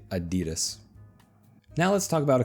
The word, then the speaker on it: Adidas: Another popular shoe brand, Adidas. And I know right now all of my European friends are cringing, but yes, we say Adidas.